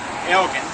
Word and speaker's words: Elgin: his name was uh Elgen and he lent his name to to the city on the condition that they use the proper pronunciation which was in Scottish is a hard G so that's why everybody